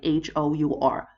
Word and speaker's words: hour: an egg, an apple, an hour, yeah, even though we spell it like H-O-U-R, hour, sorry for that, yeah, but an hour.